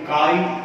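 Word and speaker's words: χ: इसे symbolic form में काई ए से रिप्रेजेंट किया गया है। कैपिटल एक्स के जैसा ये दिखता है लेकिन इनका प्रोनाउंसिएशन काई होता है, किया है।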